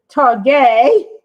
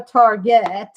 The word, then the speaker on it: Target: the other day i went to targay or target depending on how you pronounce it and i saw